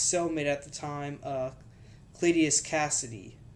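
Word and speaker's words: Cletus Kasady: at the time uh clitius Cassidy yeah that's how you say his name it bonded to Cassidy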